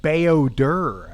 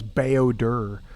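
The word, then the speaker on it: Bao-Dur: Oh, he said Bayodur. I guess the pronunciation is Bayodur this whole time.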